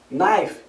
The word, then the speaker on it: knife: Por exemplo, a gente tem palavras terminadas em K e N no inglês, onde a gente não pronuncia o som do K. Know, saber, knife, faca, knee, joelho, doorknob, maçaneta.